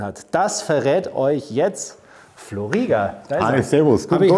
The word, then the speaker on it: Flo Rieger: Habe ich dich richtig vorgestellt? Ja, der Name war richtig ausgesprochen, ist korrekt.